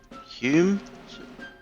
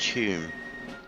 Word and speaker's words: Home: Douglas Hume? Douglas Home. I'm sure it's pronounced Hume.